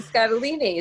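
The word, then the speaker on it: Scottoline: Your mother is Lisa Scatolini. Is that pronounced right? Or absolutely, like fettuccine.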